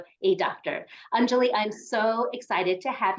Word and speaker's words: Anjali: name is Anjali and it's Anjali it's not Anjali it's not unruly it's